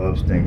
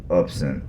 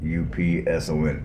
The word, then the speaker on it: Upson: it is located in upston County because I pronounced it up instead no up upset I'm sorry Upson Upson up Center there's no t so yeah it's located in Upson County and that's how